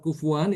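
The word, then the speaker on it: كُفُوًا: Lafaz kufuwan itu cuma satu ya. Itu di surat Al-Ikhlas. Walam yakullahu kufuwan ahad. Yang membaca kufuwan itu hanya Imam Hafiz saja itu.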